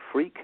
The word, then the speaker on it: Freke: on you yes well it's my name freak it's a funny old name uh but it's spelled f r k it's a West country name from England freak but SP F K